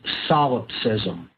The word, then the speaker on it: solipsism: And that is the ideology known as solipsism. That's spelled S-O-L-I-P-S-I-S-M.